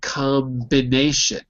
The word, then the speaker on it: combination: But if there is a vowel, then it is not silent, like combination. Because there, the bin is a separate syllable, and because of the vowel, it's easy to say, so we say it.